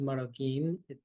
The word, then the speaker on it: Maroquin: Also, just for reference, my name is Maroquin. QU makes a K sound. QU sounds like a K off the tongue.